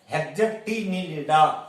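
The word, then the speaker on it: Hexactinellida: Class second है हेक्जेक्टिनिलिडा, spelling गलत लिखते हैं, पहले आप हेक्ज लिखो, एक्टी लिखो, एक ACTI, नीलिडा NELLIDA, हेक्जेक्टिनिलिडा, आराम से स्पेलिंग लिख पाओगे।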